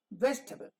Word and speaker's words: vegetable: table of 9 but when we say vegetable vegetable so it's not table it is vegetable why because this is the accented part and this is the unaccented part the unaccented set of